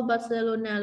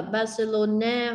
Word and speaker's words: Barcelona: Nó đứng liền sau Barcelona luôn ha. Con có thể đọc là Barcelona hoặc Barcelona cũng được, bởi vì tiếng Tây Ban Nha người ta đọc chữ N này là chữ nhờ nha.